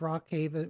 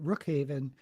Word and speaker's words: Rook Haven: Um, I finished a book called The Monsters of Rock Haven, Rook Haven, which was by Patrick Ethanette corrected me of how to pronounce it.